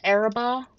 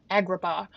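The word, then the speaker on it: Agrabah: This is Isn't this the Arab? No, that one's uh Milan. It would be this one. Aladdin like Yeah, Agraba.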